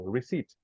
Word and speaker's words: receipt: to read also this so your brain sees the word with a p but you don't pronounce it so receipt receipt all right let's continue